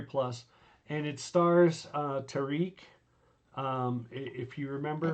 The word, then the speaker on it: Tarek: and it stars uh Tariq um if you remember I think it's pronounced Tarik Tarik it is see I told you